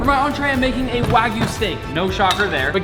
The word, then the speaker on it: wagyu: do you say next making a wagoon you put the wrong emphasis on the wrong syllable nick is making a wagyu i think we should